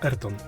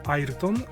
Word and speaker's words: Ayrton: oznaczone jako Special for airton i tak przy okazji technicznej się wymawia airton ale no łatwiej mi